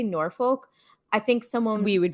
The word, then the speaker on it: Norfolk: say duke of what we would probably say is nor folk because it is spelled f-o-l-k but it's pronounced norfolk